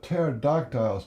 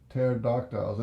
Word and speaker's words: pterodactyls: how do they get these these uh what do you call it those tear ductiles they're prepared pterodactyls spelled with a p tear ductiles it's a big this